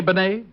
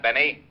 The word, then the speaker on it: Bennet: Rene Bennet? Yeah, I guess that's the way you pronounce it. You see, Otis, you mallet head, you were wrong. It's pronounced Bennet, not Benny.